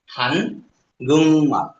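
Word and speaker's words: 한국말: কেন, গিয়ক বাচ্চিম এরপরে নিয়ম আসছে, গিয়ক বাচ্চিমের পরে নিয়ম অথবা নিয়ম আসলে গিয়ক ইয়ং হয়ে যায়, তাই এটা হানগুং মাল।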